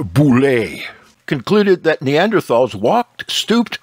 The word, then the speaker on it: Boule: the French paleontologist marceline bull reverse pronounced boule concluded that Neanderthals walked